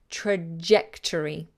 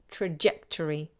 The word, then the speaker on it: trajectory: to say it trajectory and that's a hard sound I hear a lot of student saying this soft like in French leisure but in English usually this is a hard sound Joe so trajectory the trajectory is the